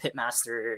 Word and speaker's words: Pitmaster: in some capacity, but I think that Pitmaster is a more intuitive pronunciation. That's what I've been going with. Yeah, I've been trying to, I'm like, I guess it's technically the pie, but it is a pit, and unfortunately we pronounce it pit, not pite.